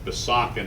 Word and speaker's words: Besançon: That's my French friend explaining that Besançon is not the way you pronounce Besançon.